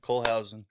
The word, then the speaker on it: Kohlhausen: Colehausen. Colehausen.